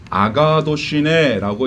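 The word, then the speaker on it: ἀγαθωσύνη: 양선이라는 말은 헬라어로 아가도시네라고 읽습니다.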